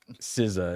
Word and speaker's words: SZA: SZA is how you pronounce it, yes. I'm not aware of who that is, no. I'm gleefully unaware. RZA, GZA, but now we have SZA. She is one of the two.